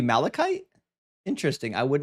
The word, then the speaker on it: malachite: Oh, that's supposed to be Malikite.